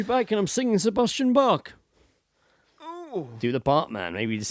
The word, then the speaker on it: Bach: Yeah, it's like BACH. Yeah. So, Bach. Bach. Bach.